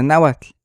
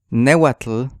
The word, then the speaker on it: náhuatl: Pero realmente este sonido no es el sonido de náhuatl, sino cómo la gente lo trata de aproximar en el español. Entonces realmente no es Nehuatl, pero Nehuatl.